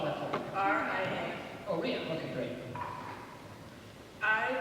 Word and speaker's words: Ria: Spell that for me. R-I-A.